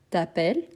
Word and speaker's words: t'appelles: je m'appelle tu t'appelles la marque du tu c'est le S à la fin même si on ne les prononce pas tu t'appelles il elle on s'appelle